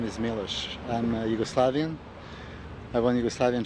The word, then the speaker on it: Milos: They always ask me how you pronounce, your name. My first name is Milos and last name is Sarcev. However, everywhere in the United States and in Europe also, they call me many other names: Mitso, Milo, Milos, and so on.